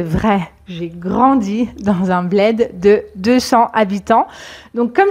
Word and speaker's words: bled: Un bled. Ici, c'est aussi un E ouvert, comme dans mec.